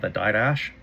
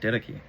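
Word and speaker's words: Didache: So, um, in the didy, which I just learned it's pronounced that. I used to call it the dash. D I D A C H E. I just found out it's pronounced ditki.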